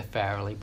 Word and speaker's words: Farrelly: The Farrelly Brothers. Is that how you pronounce their last name?